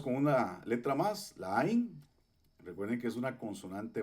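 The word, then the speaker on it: עין: ain ojo entonces bueno recuerde que la es muda entonces solamente mencionamos la a la pataj que está aquí y tenemos la yud con una I entonces decimos ain ain Okay entonces Eh bueno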